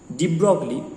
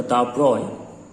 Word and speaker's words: de Broglie: এখন 1924 সালে ডি ব্রগলি, এটা আসল উচ্চারণটা দা ব্রয়, উনি একটা দারুণ লজিক দিলেন।